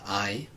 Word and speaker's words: hay: Now we could also say, en mi familia hay, in my family there is. Careful with the pronunciation here because I, H-A-Y, it's pronounced a bit like the English word for I, so the H is always silent.